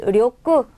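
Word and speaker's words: 力: 여러분 이 료크 력자요. 우리가 료크라고 읽기도 하고요. 또 리키라고 읽기도 해요. 단어에 따라서 앞에 오는 단어에 따라서 료크라고 읽고 리키라고 읽기 때문에 단어가 나올 때마다 여러분들이 읽어주시고 외워주시면 돼요.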